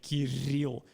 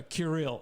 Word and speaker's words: Kirill: name in English because the foreigners just can't pronounce my name properly because it has a strong r. Yeah, Kirill. But all the native speakers are Kirill.